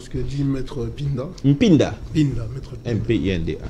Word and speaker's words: Mpinda: Mpinda. Pinda, Maître Pinda. M-P-I-N-D-A. C'est ce que j'écris, hein, donc le M, Pinda. Il faut qu'on le sente dans votre prononciation.